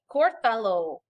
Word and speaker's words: Córtalo: Córtalo, okay, accent on your O.